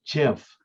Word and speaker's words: GIF: news uh obsessively the guy that invented the gif just died and one of the um he invented it a long time ago and uh it is pronounced jiff he said it's not gif it's jeff i